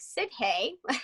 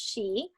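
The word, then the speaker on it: sidhe: spelled it looks like sid hey so a lot of people who aren't familiar with the word will say it like that but it is pronounced she um and so that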